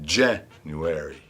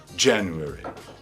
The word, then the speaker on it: January: A palavra tem 2 sílabas tônicas, uma tônica principal e uma subtônica. Então, no inglês americano, a primeira é a sílaba tônica, January, e o airy no final é a segunda sílaba tônica subtônica, ok? No inglês britânico é direto. A primeira sílaba é tônica, January.